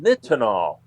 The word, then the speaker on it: nitinol: a new alloy called nitinol. That's spelled Nitinol, like nickel, titanium, and the LOL.